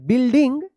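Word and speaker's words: building: whole बिल्डिंग देखिए देखिए यहां पे बी यू आई एल डी आई एन जी यहां पे आई एन जी अगर नहीं रहता तो इसे पढ़ लिखते बिल्ड पढ़ते यहां पे यू जो है ना साइलेंट है बिल्डिंग एंड फाउंड अ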